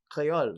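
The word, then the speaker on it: kreyol: is because in martinique they call it creole crayol and they spell it k-r-e-y-o-l right in antigua they might call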